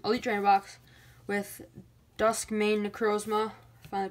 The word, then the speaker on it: Necrozma: I'm here with a Pokemon Sun and Moon Ultra Prism Elite Trainer Box with Duskmane Necrozma. Finally pronounced that, or not pronounced it?